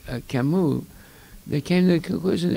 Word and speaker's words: Camus: Well, the English pronunciation would be Albert Camus, but that's not the way you pronounce his name. It's Camus in French.